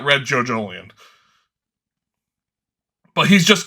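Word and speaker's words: Jojolion: The Jojolian? Am I pronouncing that right?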